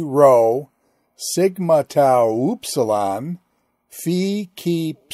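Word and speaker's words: φ: double O in hoops fee sounds like the pH in phone ki sounds like the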